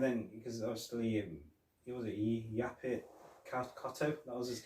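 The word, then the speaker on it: Yaphet Kotto: And then, because obviously, he was Yapit Kotto, that was his name. I think that's how you pronounce the name. I think that, Yapit Kotto.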